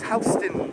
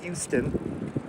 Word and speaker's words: Houston: And that's how you pronounce their name, Houston, not Houston.